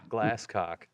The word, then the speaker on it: Glasscock: Matthew Glasscock, and yes, that is how you say it. It's spelled just like it sounds. Yeah. Glasscock.